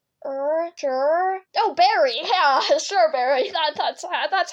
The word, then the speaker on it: Shxrberry: By the way, that's how you pronounce it. I know it's weird, and I know it's not spelled right, but it's Shxrberry. Basically, I have this phase